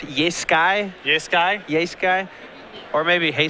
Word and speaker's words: Jeskai: Yeah, Jeskai Charm for the last couple points of damage, and Don't feel bad. They're really hard to say. Just Sky. I'm getting it. I think it's pronounced Yeskai.